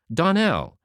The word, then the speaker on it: Donnell: Donnell, accent on the last syllable, and St.